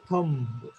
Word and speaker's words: thumb: So b in this word is silent. Silent असल्यानंतर आपण म्हणतो का, सायलेंट ठेवतो का तू? आपण म्हणताना काय म्हणतो? थंब, right?